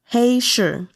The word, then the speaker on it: Heishi: Heishi. I'm not looking at the pinyin, just giving you the pronunciation, but hey, like hey, and sure.